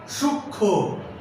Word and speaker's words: সূক্ষ্ম: 3, যুক্ত ব্যঞ্জন বর্ণের সঙ্গে যদি মফলা থাকে তাহলে সেই ময়ের উচ্চারণ হবে না। আমি আবারও বলছি, মফলা যদি যুক্ত ব্যঞ্জন বর্ণের সঙ্গে থাকে তাহলে সেই ময়ের উচ্চারণ হবে না। যেমন লক্ষ্মী, সূক্ষ্ম, এই লক্ষ্মী এবং সূক্ষ্ম শব্দের যে মফলা আছে